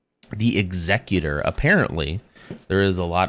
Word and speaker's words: Executor: can't see it there executor with the o r there is only one pronunciation which is executor executor would be ER